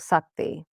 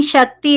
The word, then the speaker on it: Shakti: Yeah, so Shiva had a wife called Parvati, where the This is all butchered. He's calling, she's saying Shakti is power.